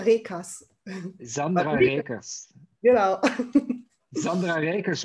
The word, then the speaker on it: Reekers: I have to do a German pronunciation, right? In German, you call it Sandra Reekers.